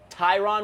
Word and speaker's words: Tyron: This is Tyron. Tyron. So you said it right, Tyron. and then nobody corrected you, and you started saying it differently.